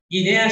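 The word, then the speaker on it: γυνή: Guinea significa mujer, casi como en griego antiguo, guinae, mujer. Mujer se pronuncia guine, y está en la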